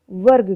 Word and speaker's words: वर्ग: जैसे मैंने बात की वर्ग की, वर्ग, आप यहाँ देख रहे हैं बिल्कुल स्पष्ट रूप से कि जो रेफ र है वह ग के ऊपर लिखा हुआ है और उसका उच्चारण ग से पहले हो रहा है।